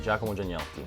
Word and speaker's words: Giacomo Gianniotti: Giacomo Giannotti. Did I do that right? Yeah, you crushed it. That was great. Come si pronuncia in Italiano? Giannotti. Giacomo Giannotti.